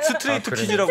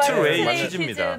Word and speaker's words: 스트레이 키즈: 스트레이트 키즈라고 막 부르고. 스트레이키즈 아닙니다. 스트레이키즈입니다.